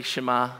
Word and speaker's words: Shema: an intentional important prayer am i pronouncing that correctly Shama where am I getting it totally wrong help me out is that right Shema excellent I thought I